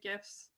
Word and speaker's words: GIFs: We produce videos, animated GIFs, or GIFs if you pronounce it incorrectly, case studies, and we've been doing story maps.